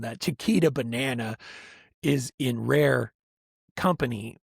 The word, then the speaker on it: Chiquita: It kind of rhymes with Shakira. Yeah. So this is all the Chiquita Banana Company.